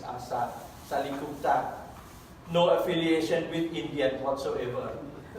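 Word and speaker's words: อาสา ศาลิคุปต: It's Asa Salikupta.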